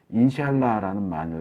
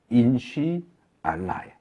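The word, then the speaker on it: إن شاء الله: 이러는 것처럼 이슬람 사람들은 인샬라라는 말을 많이 해요. 인샬라. 이게 어떻게 보면 인사말처럼 보이는데 인사말이 아니에요. 인쉬 알라예요. 인쉬 알라를 빠르게 발음하니까 인샬라 이렇게 들려요.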